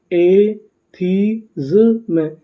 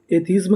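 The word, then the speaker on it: atheism: एथीज्म, एथीज्म, एथीज्म। एथीज्म का मतलब होता है नास्तिकता। अगर आप इसे चाहें तो इसे एथिज्म भी पढ़ सकते हैं। इसका सही उच्चारण क्या है? एथीज्म।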